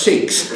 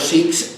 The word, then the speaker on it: Sikhs: la K y la H como J, lo cual es totalmente incorrecto en el caso de los Sikhs. En el caso del árabe sí es muy correcto, porque la K y la H se pronuncian J. Pero en el caso de los Sikhs, que no tiene nada que ver con el árabe, que la lengua es Punjabi, esto es un K.